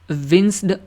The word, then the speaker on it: winced: विंस्ड का मतलब क्या हो गया, पहले इसकी मैं प्रोनाउंसिएशन देख लूँ, WINCED, इसको पढ़ते कैसे हैं? हाँ, विंस्ड।